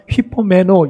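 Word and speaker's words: ὑπομένω: 휘포메노, 이렇게 발음을 한다고 그랬는데 무엇 아래 거하다, 이런 뜻이라고 그랬어요.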